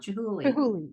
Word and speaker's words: Chihuly: I thought you were saying with a T, but it's a hard CH sound. Chihuly.